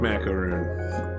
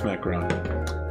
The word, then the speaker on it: macaron: Alright, seems like macaroon. It's macaron. I've said it wrong.